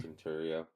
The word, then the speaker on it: Centuria: So, without further ado, it is Centuria, I believe that's how you say it, right? Yeah, Correct me. Centuria.